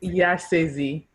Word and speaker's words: Yesezi: say your traditional name how is your is your name pronounced it's yes izzy ah so cute and